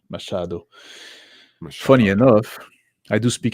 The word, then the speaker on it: Machado: Some say the CH is pronounced as in S and as in mash. Machado.